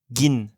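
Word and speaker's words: กิน: Cette lettre taille est entre le K et le G français, alors vous pouvez prononcer un G dur et vous verrez, vous ne soufflerez pas d'air en même temps. Gi, gin.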